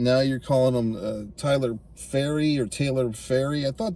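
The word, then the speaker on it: Pharry: uh early on there's a character named Taylor faery that's how it's pronounced p h a RR y so they're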